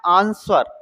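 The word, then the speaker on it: answer: यहां पे लिखा है आंसर। वैसे इसको आंसर बोलते हैं। लेकिन ए आंस अर तो यहां डब्ल्यू साइलेंट होना चाहिए।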